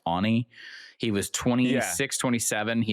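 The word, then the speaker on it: Aune: I think his last name is pronounced Ani.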